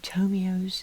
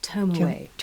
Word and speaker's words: Tomoe: mob people um and that happened to be tomio's am i pronouncing that right tomorrow excuse me tell me his fiancee that's it and that's why tomaway decided she was going to avenge her unfortunately